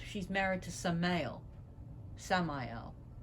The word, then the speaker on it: Samael: married to some male samael or samia as people pronounce it and as the